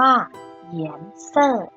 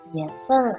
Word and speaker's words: 颜色: สี ค่ะ สี ภาษา จีน ออก เสียง ว่า เหยียน เซ่อ เหยียนเซอร แปล ว่า สี ค่ะ มา เริ่ม คำ ที่